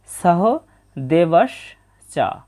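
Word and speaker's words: সহদেবশ্চ: আছে সহ দেবস এটা বাংলা উচ্চারণের মতোই তবে দন্তস এর উচ্চারণটা ছ এর মত হবে সহ দেবস চা প্রথম চরণের উচ্চারণটা পেয়ে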